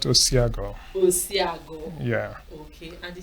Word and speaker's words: Osiago: Yeah, it's pronounced Osiago.